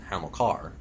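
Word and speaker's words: Hamilcar: I I I was under the impression that it was um it was pronounced Hamlar, not Ham Ham. There's an L in there.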